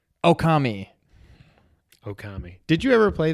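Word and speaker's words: Ōkami: It's Oki. 3 syllables. Okami.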